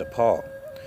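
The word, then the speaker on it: שָׁפַל: Now we know in the ancient Hebrew it's pronounced shapal.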